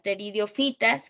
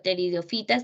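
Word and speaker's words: pteridofitas: Casi no se lee allí, pero pteridiofitas no se pronuncia la P, pues son plantas sin semillas.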